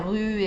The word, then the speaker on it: rue: Y la U es como más aguda, como en tu, rue. La palabra rue es una de las más difíciles de pronunciar en francés. A ver, intenten decir tu, rue.